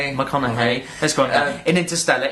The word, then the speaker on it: McConaughey: Matthew how do you pronounce his name? McConaughey.